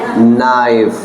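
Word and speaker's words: knife: चाकू से, so with नाइफ। अच्छा, केस साइलेंट हो जाएगा यहाँ पे, ठीक है, यस, आई cut vegetables with नाइफ।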